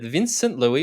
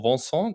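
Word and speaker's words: Vincent Luis: is the news that vincent louis or vincent or vanson or or however you choose to pronounce it vince louis vincent louis looks to compete at the 70.3 world championships in 2022.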